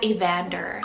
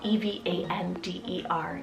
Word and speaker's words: Evander: and this one means left then we have a vander spell e v a n d e r evander and this one means bow warrior or